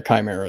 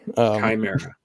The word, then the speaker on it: Chimera: Yeah, Chimera is fine. Chimera. Okay. Yeah, it's funny. Everybody pronounces it differently, and I just stopped correcting people after a while.